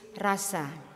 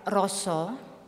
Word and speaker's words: rasa: our experience and existence it is Rasa the Japanese pronounce it little bit different ly and regard Roso very highly in their